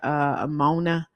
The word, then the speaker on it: ammonia: blends, such as this is where I was pronouncing the word ammonia. I think I said that right. But the AMMONIA, ammonia.